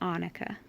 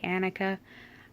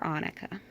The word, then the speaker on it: Annika: But I pronounce it Annika. I've heard some people say Annika. I'm not a big stickler over name pronunciations. It's whatever is easiest for you. But I call her Annika.